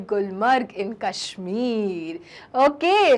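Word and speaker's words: Gulmarg: तो चिल्ड्रन आओ और अब पढ़े हम गुलमर्ग के बारे में। गुलमर्ग, नोन एज गुलमर्ग, क्योंकि हिंदी में आप गुलमर्ग कह रहे हैं, लेकिन चिल्ड्रन कश्मीरी प्रोनाउंसिएशन क्या है? गुलमार्ग।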